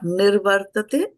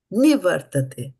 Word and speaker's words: निवर्तते: Not nirvartate, nivartate.